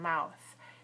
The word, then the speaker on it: mouth: Ends with a voiceless th sound, mouth.